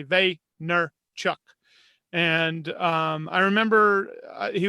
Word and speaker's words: Vaynerchuk: wasn't Gary ve yet he would pronounce his name Gary ve nner Chuck and um I remember